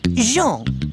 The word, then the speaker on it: Jean: John Thomas, eh? No, Jean, with a soft J.